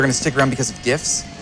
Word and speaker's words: GIF: You really think people are gonna stick around because of GIFs? It's pronounced GIF. No way, hard G GIF.